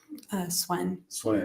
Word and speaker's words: Sven: And then this Sven. Swen.